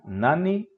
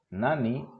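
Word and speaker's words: なに: dare K alguien ahora tenemos Nani que también se pronuncia Nan Nani Nan este es equivalente al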